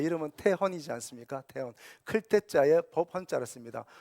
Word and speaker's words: 태헌: 이름의 의미는 뭡니까 저도 이름이 있습니다 제 이름은 태헌이 않습니까 태헌 태자의 법헌자 씁니다 발음하게 어려와 헌은 사람들이 다 형이다 태형 태영 태원 이렇게 막 불러요 제 이름은인데 자의